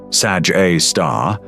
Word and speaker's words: Sagittarius A*: The pronunciation Sag A* is the one used universally by astronomers.